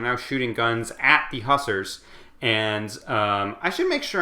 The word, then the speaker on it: hussar: But at this point, the French have arrived, and they're now shooting guns at the hussars, and I should make sure I'm saying that